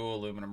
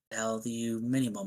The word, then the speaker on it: aluminium: I got a new aluminum radiator with the electric fans and everything. You got to say it how you say it. Aluminium.